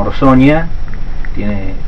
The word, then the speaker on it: Orsogna: Mis abuelos y mi papá incluido eran de un pueblito que se llama Orsonia, se escribe Orsogna, GNA, que tiene 4.000 habitantes, está en la provincia de Chieti, que se escribe Chieti con doble T.